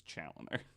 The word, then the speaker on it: Chaloner: Maybe his family is French, but he's English, so it's Chaloner.